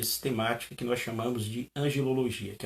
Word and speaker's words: angelologia: Nunca angiologia, mas sim angelologia.